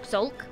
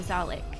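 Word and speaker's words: Zhalk: Now the question is, can we kill Commander Zalik? It's pronounced Zulk.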